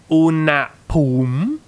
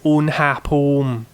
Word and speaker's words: อุณหภูมิ: So this is not อุณหภูมิ This is อุณหภูมิ So you're actually pronouncing this as its own syllable, right? You're saying un and then you're saying ha and then you're saying pum, อุณหภูมิ right?